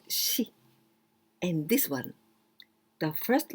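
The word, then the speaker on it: 四: We can pronounce yon, yon, yon or yo, yo, and also shi.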